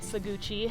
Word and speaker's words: Saguache: So it is pronounced Saguache, okay. Not Saguache, which is a common misconception, but yeah, it means water at blue earth.